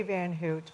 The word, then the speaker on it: Van Houtte: your name correctly sir I say van Houtte but it's whatever okay well let's go with that man hoot sorry good evening I'm